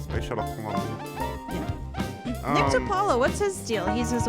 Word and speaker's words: DiPaolo: It could be one syllable, but it's two, and it has the No, word. no, Paul. no. Oh, no. It's got an extra syllable up front.